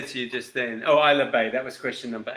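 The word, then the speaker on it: Ailsa Bay: We were looking for Isla Bay. That is A-I-L-S-A. Isla Bay.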